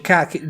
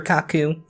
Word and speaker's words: Kaku: koch dr Kaku dr Kaku sorry i pronounced mispronounces name yes but I himself he